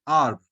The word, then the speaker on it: arbre: So this comes from arbre. Arbre means tree in French. Then how to pronounce this?